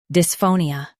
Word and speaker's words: dysphonia: Stress pho and keep nia soft. Dys, pho, ni, dysphonia.